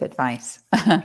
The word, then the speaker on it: advice: you a piece of advice exactly yeah and the verb is to advise and there's a slight pronunciation difference so with the noun advice it's like an s sound just from the teeth but the verb advise